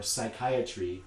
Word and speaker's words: psychiatry: So words like pterodactyl or psychiatry or things like that, that begin in English with silent P letters, Those are from the original Greek. They're not pronounced in modern English.